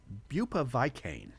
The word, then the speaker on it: bupivacaine: I I pronounced it bupiva bupivacaine.